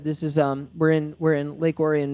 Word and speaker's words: Lake Orion: This is we're in Lake Orion, Michigan, which is how you say it, not Lake Orion, like the rest of the world thinks it is.